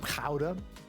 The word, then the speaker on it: gouda: I have here some kha, which is how you're actually supposed to pronounce gouda, but I know that